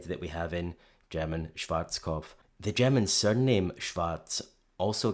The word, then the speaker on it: Schwarzkopf: In German, we pronounce it Schwarzkopf, which literally means black head. Schwarzkopf. English native speakers usually pronounce it Schwarzkopf or Schwarzkopf or something along those lines.